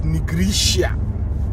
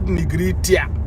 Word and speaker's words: Negritia: the name is called the way you pronounce it is negritia negritia not nigritia like i'm someone called